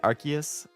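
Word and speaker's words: Arceus: way I do it I say archus archus it's how it's supposed to archus really been doing good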